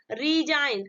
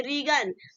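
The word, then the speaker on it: resign: Next example देखते हैं, second वाला, रीजाइन। अब इसे नहीं पढ़ेंगे रीगन, ठीक है, रेगन नहीं पढ़ेंगे, इसको हम क्या पढ़ेंगे, रीजाइन पढ़ेंगे, ठीक है।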